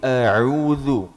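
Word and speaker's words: أعوذ: Jadi huruf ain itu ketika berharokat fathah dibaca a. Ketika berharokat kasrah ai. Ketika berharokat dhammah au. Au. Jadi a'udzu. Jangan sampai khayshum. Khayshum itu keluar lewat hidung.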